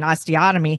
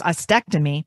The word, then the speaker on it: ostectomy: I was saying osteotomy, but it's ostectomy.